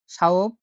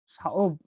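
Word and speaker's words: ثوب: সা যেটা উচ্চারণ স বা থ এর মতো হয়ে থাকে। সাওব, সাওব, সাওব মানে হলো পোশাক, সাওব মানে পোশাক, সাওব মানে, সাওব মানে হলো পোশাক।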